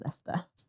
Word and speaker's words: Leicester: Had a friend from Leicester. How did you pronounce again? Leicester. Leicester. Leicester is Leicester. It does look like Leicester, but it is Leicester. It's many silent words. Many silent letters in Leicester.